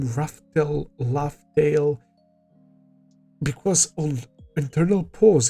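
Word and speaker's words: Laugh Tale: And when they pronounce Laughtale in this movie, it sounds like Raftel, right?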